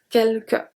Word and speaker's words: quelque: So here, all the U after Q are silent, we saw that. And then the S is silent as well. Quelque.